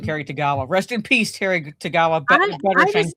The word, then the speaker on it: Tagawa: Tagawa, thank you. I couldn't remember how to pronounce his last name. Terry Tagawa.